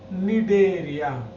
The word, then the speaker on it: Cnidaria: सी silent है, यहां देखें, निडेरिया।